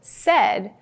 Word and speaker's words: said: For example, said is a common sight word. When we pronounce it s-e-d, it sounds like there should be an E in the middle, but it's a rule breaker.